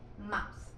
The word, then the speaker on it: mouth: Mouse que es boca y como ven tenemos la presencia de la th que la th como ya saben se pronuncia bueno no tiene una un equivalente fonético en el español y Por ese motivo lo suplantamos por un set que sería algo así como mth Mouse luego